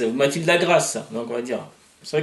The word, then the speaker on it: Matilda Grace: C'est vrai que, Oui, comme je disais tout à l'heure, je suis tenté de le prononcer à l'anglo-saxonne. Et bon, et tu m'as confirmé que à l'origine, ça se prononçait à l'anglo-saxonne, exactement.